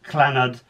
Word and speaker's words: Llanod: It's pronounced Llanod, I said with extreme exasperation.